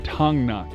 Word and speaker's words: Thangnak: and just like that we have arrived in tongnok i've been saying it wrong all day here's